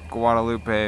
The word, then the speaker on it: Guadalupe: get on is uh guad sort for guadaloop if you pronounce it how people hear say it Guadalupe if you pronounce it how the actual word is in Spanish but we just called